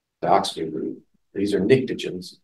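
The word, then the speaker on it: pnictogens: These are nictogens, starts with a P. P is silent.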